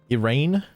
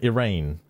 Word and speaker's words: Iran: What was the pronunciation again? Iran. Yeah, Iran.